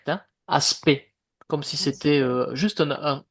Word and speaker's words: aspect: Puisque tout à l'heure au début du cours vous parliez de quelques doutes de prononciation, vous prononcez aspect comme si c'était un e. Ce n'est pas aspect hein, aspect comme si c'était juste un e à la